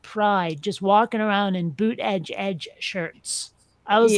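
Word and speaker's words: Buttigieg: know who he is you always see boot Edge Edge on his t-shirts to tell you how to pronounce it buot jge yeah I jge gotta run yeah that's why I say booty judge but um I gotta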